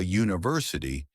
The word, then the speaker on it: university: But we say a university because university starts with a u sound.